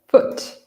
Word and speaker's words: foot: What we have here is foot. Right? Foot. And the vowel sound is very short and quick.